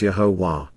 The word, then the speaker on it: Yahowah: Yahowah says explains with absolute certainty how to pronounce Yahowah.